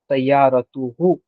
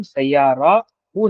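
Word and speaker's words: سيارته: लेकिन जब कोई अटैच प्रोनाउन इसके साथ जुड़ जाता है तो हम ता के साउंड को रेगुलर ता के साउंड में ही पढ़ेंगे। Okay? As इन the case of सयारतुहु। Okay? Here यहां पर हम सयाराहु नहीं कह रहे बल्कि सयारतहु कह रहे हैं।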